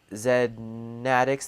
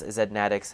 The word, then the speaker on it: Zedd Maddox: the side trance drop zen attics thank you so much for the follow there so I've I mispronounced your name there yes Zedd Maddox thank you so much